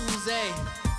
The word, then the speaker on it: Uzi: OOZIE, it's not Uzi, it's Uze. Say it like you're French.